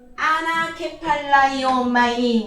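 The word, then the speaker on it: ἀνακεφαλαιόομαι: 자, 나가 좀 어렵다 그랬죠. 발음이 아나케팔라이오마이니 무슨 뜻이냐?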